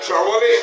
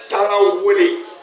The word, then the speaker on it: Tarawale: For the name Mandingo to come to prominence, it started with a name or a surname called today Trawale or Tarawale. But the actual pronunciation of it is Tarawale.